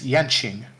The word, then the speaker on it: Yanqing: Yanqing? Yeah, this is why I said don't worry about not knowing those pronunciations, because we were getting to the Chinese name characters. This is Yanqing.